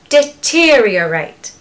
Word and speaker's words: deteriorate: quite easy isn't it just say reate reate reate keep practicing that over and over again reate reate now you need to add in the first part which is just deter deter deter deteriorate deteriorate it's easy the other month